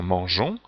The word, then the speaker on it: mangeons: pour le verbe manger on n'oublie pas le O ici pour le E pour avoir la prononciation mangeons et on retrouve ce